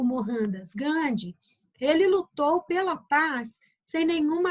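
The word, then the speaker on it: Mohandas Gandhi: lendo com dois RS mohandas gande tá bom e depois a pronúncia de Mahatma gandi a mesma coisa o h lá para eles tem aqui para nós o som de dois rs eu já sa bom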